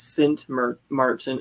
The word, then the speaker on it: Sint Maarten: Nancy says Sint Maarten is the Dutch way to say it.